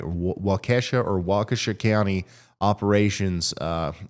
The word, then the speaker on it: Waukesha: non-essential uh I hope I'm saying that right wakasha or Waukesha County operations uh are closed effective at 2 30 p.m County offices will remain will reopen tomorrow at 8 A.M and it's Riley it's pronounced Waukesha Waukesha that makes sense so that's what's going on